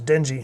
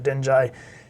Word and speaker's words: Denji: this guy's name is Denji, I think is how you pronounce it, Denjai.